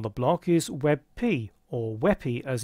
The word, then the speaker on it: WebP: The new kid on the block is WebP, or WEPI as it's normally pronounced.